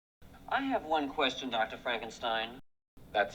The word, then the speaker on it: Frankenstein: Frankenstein. That's Frankenstein. I beg your pardon? My name. It's pronounced Frankenstein.